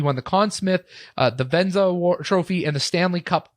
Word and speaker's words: Vezina: He won the Conn Smythe, the Vezina Trophy, and the Stanley Cup all after the